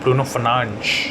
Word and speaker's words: Bruno Fernandes: I think with someone like Bruno Fernandes or Bruno Fernandes, as they call him on FIFA, as per the Portuguese pronunciation, absolutely on another level.